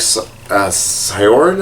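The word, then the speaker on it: Syaoran: Like, that looks exactly like Sakura, and this looks exactly like Sioran, I think is how his name's pronounced.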